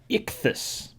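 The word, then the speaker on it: ἰχθύς: Greek writing this is the word that is pronounced Ichthus and this word means as you may have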